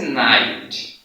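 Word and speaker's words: knight: এই জায়গাতে আছে নাইট, যেটাকে অশ্ব বোঝায়, এই জায়গাতেও কিন্তু কে উচ্চারণ হয়নি।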